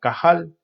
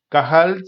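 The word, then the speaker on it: קהל: antiguo testamento habría había una palabra hebrea que se pronuncia cajal cajal significa asamblea de dios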